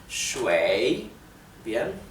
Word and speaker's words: 水: Como verán, si prestan atención a cómo lo pronuncio, lleva el tercer tono, o sea el tono descendente y ascendente. 水, ¿bien?